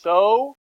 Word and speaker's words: SOH: It's so, S-O-H is so, C-A-H is ka, and then toa is T-O-A.